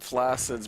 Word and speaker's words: flaccid: It's like how, like, flaccid's meant to be pronounced flaccid, but, like, flaccid. It sounds like the word, you know, what it means.